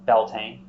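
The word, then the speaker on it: Beltane: Irish Modern Irish or English in English it's belting b-e-l-t-a-n-e in Irish Modern Irish you'll see um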